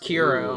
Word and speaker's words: Kuro: a mod by Kuro apparently it's pronounced quiero I did not know